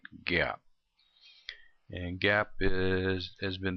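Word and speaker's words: GAAP: come up with some generally accepted accounting principles pronounce that Gap and GAP is has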